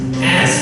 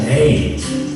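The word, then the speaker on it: Ayds: Those were called A's. 1 year later, a first case of AIDS was detected. Although it's spelled a bit different, it is pronounced the same.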